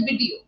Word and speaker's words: video: To give you an example, you said video. It's my first video session. The correct pronunciation is video. Ver. Can you try that? Video. Video. Not B. Ver. The lips should not touch each other.